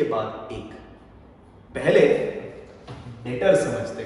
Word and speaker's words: debtor: Be something called as डेटर। I repeat the term, it's डेटर, जिसमें B silent रहता है। तो please don't read it एज डेप्टर, read it एज डेटर।